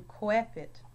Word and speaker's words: coepit: Oi, oi, as in coepit. and proelium, And we, we, as in huius or huic, or cuius, or hui.